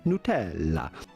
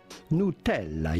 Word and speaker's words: Nutella: Well, that would be Nutella. Nutella. You do want to insist on the E and the double L. Nutella.